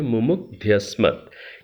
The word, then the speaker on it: मुमुग्ध्यस्मत्: मुमुग्ध्यस्मत्। ये केवल मैंने उच्चारण की दृष्टि से, चूँकि बृहद यज्ञ के